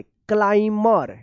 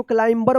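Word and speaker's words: climber: देखिए यहाँ पे क्लाइमर, क्लाइमर। देखिए यहाँ पे M के बाद B है तो क्या होगा कि B साइलेंट रहेगा। साइलेंट वाले क्लास में सीखा हम लोग। तो देखिए क्लाइमर पढ़ेंगे, इसको क्लाइंबर मत पढ़िएगा, B साइलेंट रहेगा।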